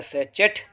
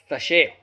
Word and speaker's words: sachet: पढ़ेंगे से सैचेट या साचेट, से कहते हैं हिंदी में थैली। और ये साचेट या साचेट जो होता है, दोनों ही प्रोनाउंसिएशन इसके गलत हैं। इसका सही प्रोनाउंसिएशन हम करते हैं तो आता है सशे।